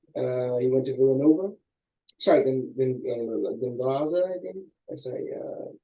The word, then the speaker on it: Gonzaga: Sorry, Gonzaga, I think. Sorry, how do you say it? Gonzaga.